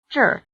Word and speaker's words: 这儿: 这个，这个，这个， It may be helpful to remember that the answers 这个 this, 这儿 here, 那个 that, and 那儿 there are all in the falling tone, while the questions 哪个 which and 哪儿 where are both in the low tone.